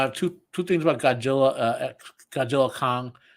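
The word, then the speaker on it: Godzilla x Kong: I have two things about Godzilla, Godzilla Kong. The way to say that, by the way, is just don't pronounce the X.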